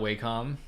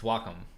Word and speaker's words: Wacom: again exclamation mark welcome it took me a long time to pronounce and welcome and not wacom i spent like 15 years saying wacom i wasn't formed like a year ago that is walk is wacom it's wacom it's like soccum they said it's like